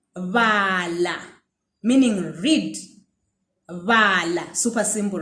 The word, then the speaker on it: bala: So to round it off, let me give you a verb that uses the va sound. Okay. So the verb would be bala, meaning read.